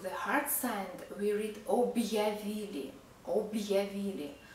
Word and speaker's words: объявили: Hard sign is not pronounced. It divides consonant sound and following vowel sound. For example, we don't read objavili because of the hard sign. We read objavili, objavili, not objavili without